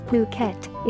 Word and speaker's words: Phuket: tropical island of Phuket fortunately pronounced as Phuket is frequently and justifiably